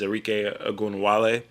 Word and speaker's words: Arike Ogunbowale: Is Arike Ogunbowale. Might have said her name wrong.